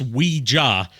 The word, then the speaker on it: Ouija: It is pronounced Ouija because it's supposed to be an amalgamation of the French word oui and the German word ja. But somehow the English language has mutated it into Ouija for a common pronunciation.